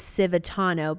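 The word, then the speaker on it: Cvitanov: And see, the thing is, so the Croatian side, the last name is Civitano, but it's spelled Cvianov.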